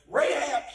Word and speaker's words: Rahab: they met ray chad ray had rachel ever pronounced it rahab had a good report and regardless of what